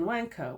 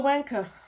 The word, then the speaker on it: Wankh: name of this book I can't think of any way to pronounce it other than wanker which is a good old you know English word originated